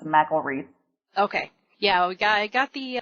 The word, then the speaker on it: McElreath: It's McElreath. Okay. Yeah, I got the pronunciation from your Facebook page, but it wasn't,